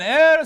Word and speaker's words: Eyre: Hosseini: Is it or Ey-re? Eyre: Whichever you prefer. Hosseini: Which one is correct? Eyre: I pronounce it Ey-re. Hosseini: Ey-re as in "air"? Eyre: Yes, like the air.